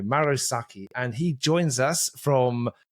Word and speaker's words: Sacchi: to know now this person is Maro maros Saki and he joins us from Finland that is